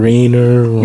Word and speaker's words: Rainer: joining us I probably should have here to pronounce this blessed are regardless this I know is Reiner Rainer yeah I did the first of all don't